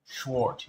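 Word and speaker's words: Schwert: Schwart is how you say sword of Deutsch.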